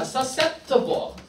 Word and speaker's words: susceptible: susceptible. susceptible SC 발음할 때 s 해버리면 돼.